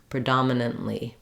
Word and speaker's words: predominantly: speed it back up just try to keep the relative Rhythm the same so that you're stretching on the second syllable and going more quickly on the other syllables that sounds like PR